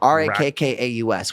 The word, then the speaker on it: Rakkaus: So not because Rackus Records. No, Rakkaus, which means love in Finnish, my native language. Oh, nice. Rackus.